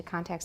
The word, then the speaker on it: contact: To contact with somebody, we don't usually say that, to contact somebody. And note that the stress stays on the first syllable, contact, to contact somebody, even though it's a verb.